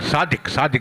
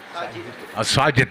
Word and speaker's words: Sajid: Sadiq is the one. Yeah, 31, huh? So he's wearing the 31 number jersey. Sajid, beg your pardon. Got that pronunciation wrong.